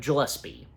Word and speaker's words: Gillespie: And on account that Supergirl being directed by a really great, talented director, Craig Gillespie. Yeah, and I did pronounce his that is how his last name is specifically pronounced.